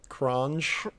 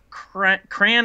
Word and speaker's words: Kranj: So anyway, that's it for Kranj. I think they said Kran or Kran. I think the J is silent, right?